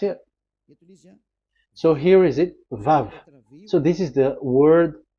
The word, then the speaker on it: Vav: We called it as Vav. Vav. Your mouth is like closed. Vav. So it's V as in Vogue.